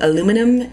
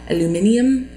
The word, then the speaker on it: aluminium: One thing I noticed is as Americans, we mispronounce a lot of things. One of those things being aluminum. It is actually aluminium. I think the saying it right. Basically aluminum is wrong, but I think it's aluminium is how it is supposed to be pronounced, but we don't say it correctly.